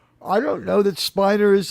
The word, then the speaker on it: Spiner: I don't know that Spiner is like, first of all, he said that he it's Spinner, but he gave up on trying to convince people.